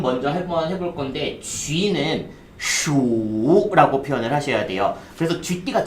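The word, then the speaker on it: 鼠: 일단은 발음 먼저 한번 해볼 건데 쥐는 슈라고 표현을 하셔야 돼요.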